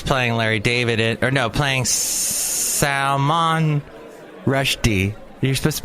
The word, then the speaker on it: Rushdie: And that guy is playing Larry David, playing Salman Rushdie. You're supposed to put the emphasis on the second syllable, and Salman Rushdie is